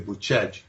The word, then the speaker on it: Bucegi: Well, the claims are that in the mountains of Bucegi, it's spelled Bucegi, we'd say Bucegi, but they say Bucegi, and that's in sort of on the border.